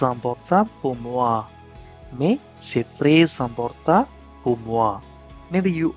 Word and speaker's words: très: Très is spelled T-R-E-S with this accent, and the S at the end of a word may be pushed into the following word if it starts with a vowel taking the sound of an Z or C. For instance, very important can be très important, très important, très important. The S at the end of très can be put into the vowel I of important.